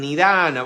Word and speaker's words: nidāna: Está mal puesto el acento en nidhana, va en la segunda A.